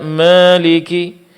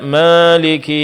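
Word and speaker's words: مالك: Sehingga alif di sini seperti alif yang diimalahkan yaitu Maliki dibaca Maliki. Maliki yaumiddin dibaca maiki yaumiddin. Ma seolah-olah ini diarahkan ke huruf E. Bentuk imala dalam qiraat. Dan ini tidak benar.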